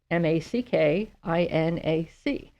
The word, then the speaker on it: Mackinac: If you Google it, remember that Mackinac is spelled very strangely. It's Mackinac.